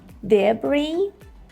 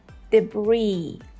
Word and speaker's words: debris: British version, which are debris, debris, or debris, debris. And the American pronunciation is debris, debris. So here we have a silent S. We do not pronounce it at all.